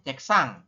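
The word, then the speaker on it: 책상: Ini adalah dibacanya ceksang ya. Kita bacanya ceksang, teman-teman.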